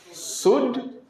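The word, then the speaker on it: should: उल्ट नहीं सुलट नहीं इसको क्या पढ़ा जाएगा शड उड कुड यहां त कोई दिक्कत आप लोग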